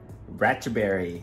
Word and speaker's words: Ratchaburi: And this weekend we came to Ratchaburi, and he pronounced it right this time. Yeah, so not to be confused with Ratchaburi. Ratchaburi.